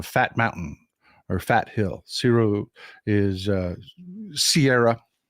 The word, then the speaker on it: cerro: Cerro is Sierra. You pronounce it as the Sierra, but it's actually the Mexican word is Cerro, Cerro, Cerro Gordo.